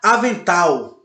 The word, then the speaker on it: avental: Vocês percebem quando a gente fala a palavra, a sílaba mais forte, ela se apresenta com a tonicidade maior, com a dinâmica maior. Avental. Oxítona, embora não seja acentuada, mas a sua sílaba tônica forte é a última.